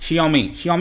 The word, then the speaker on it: Xiaomi: और इस कंपनी का नाम काफ़ी पॉपुलर है भारत में, आपने सुना होगा Xiaomi इसको प्रोनाउंस करते हैं।